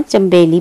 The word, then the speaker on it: चमेली: ठीक है, ये नून साइलेंट होता है, इसको नहीं पढ़ना, चमेली पढ़ना है।